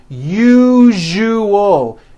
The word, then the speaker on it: usual: usual correctly break it up into three syllables u o that second syllable Z the one with the underline needs to be voiced put your hand on your throat and feel for the vibration in the second syllable uo now put it together usual usual like that okay now try unusual